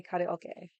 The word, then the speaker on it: karaoke: I'm like the few and far between people, Americans, that say karaoke, because that's how you say it. Ka, ra, o, ke. That's how you say it. Karaoke. Like any Japanese word, you like break it down.